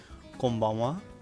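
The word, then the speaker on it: こんばんは: Konbanwa. So this is hiragana ha, but it's also used as wa, pronounced as wa in some situations, such as particles, and I guess in words like konnichiwa, konbanwa.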